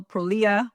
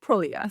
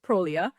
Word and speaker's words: Prolia: name is prolia um people call prolia or prolia but we call it prolia so please change your syllable of the stress it's prolia so prolia medication is